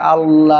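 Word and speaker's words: الله: আল্লাহ শব্দের আগে জবর বা পেশ থাকলে আল্লাহর শব্দের মধ্যখানে লামকে পুর বা মোটা করে পড়তে হয়।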